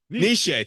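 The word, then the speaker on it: Nietzsche: the way back to Niche or Nish whatever I can't pronounce his name for the life of me nishe thank you um you're closer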